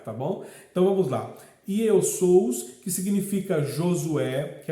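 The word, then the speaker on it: Ἰησοῦς: O nome Jesus é a forma grega que se pronuncia Iesous, ou seja, Iesous, que é o mesmo que Josué.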